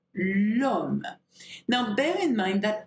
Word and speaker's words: l'homme: So we don't say le homme, okay? We say l'homme.